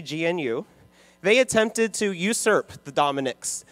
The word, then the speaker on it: GNU: 1980s new which is you know with a G the silent G gnu they attempted to usurp